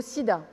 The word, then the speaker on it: sida: dégradant en dialecte lobby le mot sida se prononce comme en français et se traduit par